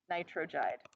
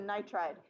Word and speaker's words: nitride: I tried you'll notice it's nitride not nitrogen okay not nitrogide how many syllables in nitride do you guys know how to count syllables and I tried yes just like in elementary school with I like how many syllables right nitrogide would have three syllables anions with two exceptions